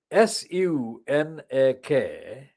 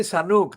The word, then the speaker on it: Sunak: So Rishi Sunak, if you adjust the spelling slightly, Sunak, not the Sanuk that Joe Biden spelled him as or pronounced him as, but if you say Sunk, Sunak, just slightly adjust the spelling.